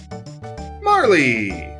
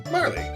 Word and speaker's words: Marle: Marley! At least that's how I pronounce it. I'm pretty sure that's how you pronounce it. Not Marl. But, Marley.